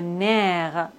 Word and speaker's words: nerf: F comme le nerf. Le cerf. P comme beaucoup. Trop. On ne doit pas prononcer P final.